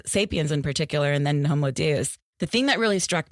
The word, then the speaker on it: Homo Deus: new book just out, Homo Deus. Did I pronounce that properly? I use the Latin pronunciation, which is Homo Deus. Deus, okay. But you can say Homo Deus.